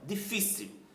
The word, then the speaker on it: difícil: Olha, difícil. Qual é a sílaba mais forte? A penúltima, fi, não é?